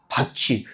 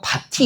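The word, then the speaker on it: 밭이: 이거 어떻게 발음합니까? 받치. 설마 이걸 굳이 굳이. 그죠? 얘를 굳이 그러니까 바티 이렇게 발음하지는 않습니다.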